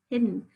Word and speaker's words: hidden: hidden hidden now hidden hidden you don't say hid then right we don't really emphasize that e a short e sound at the end so we have we